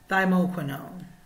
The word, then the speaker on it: thymoquinone: black seed oil that makes it phenomenal is thymoquinone now i might have butchered it but it's t-h-y-m-o-q-i-n-o-n-e thymoquino that's the